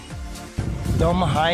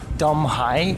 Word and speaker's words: Dong Hai: Dom Hai is the village inside of Doplet, which is the city, I believe, if I'm not, if I'm not being mistaken.